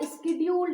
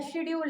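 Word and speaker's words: scheduled: अब देखिए इसके बाद हम लोग देखेंगे फोर्थ, जो कि है हमारा स्केड्यूल्ड एक्शन। ठीक है, स्केड्यूल्ड एक्शन या शेड्यूल्ड एक्शन, जो भी आप प्रोनाउंस करते हो।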